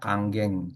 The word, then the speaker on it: Kangen: namanya itu Kangen Water nama airnya ya teman-teman kalau dibaca kanggeng. Saya juga awalnya baca kangen karena orang Indonesia ya spellingnya kadang kangen tapi sebetulnya dibacanya kanggeng. Kang geng berarti kembali ke asal.